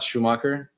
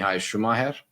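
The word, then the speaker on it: Schumacher: correct but guys I saw comments about Schumer pronunciation and it is not Schumaker it's actually I was right it's Mii shumer is his right pronunciation in his name uh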